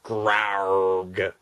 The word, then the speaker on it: Grawrgh: him okay moment over his name is grow yeah it's grow because he's amazing yes it's spelled g r a w r g h gr yeah cuz he's